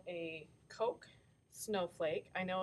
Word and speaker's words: Koch: um we're going to make what's called a Koch snowflake I know it's spelled k och something right at the top